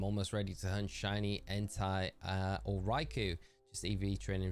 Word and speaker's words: Entei: Entei.